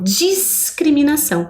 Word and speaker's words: discriminação: automaticamente eu percebo que, apesar de ter o encontro do S e do C, eu consigo ouvir o som da letra S, como também o som da letra C na sílaba CRI, né?